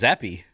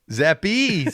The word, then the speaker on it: Zappe: know everyone right now 73 rhymes with zeppy zeppy 73. is it zephy is he gonna be